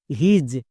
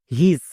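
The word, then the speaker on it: his: যেমন এইচ আই এস হিজ একে অনেকে ভুল করে উচ্চারণ করছো। হিস বাট হিস একদমই ভুল উচ্চারণ।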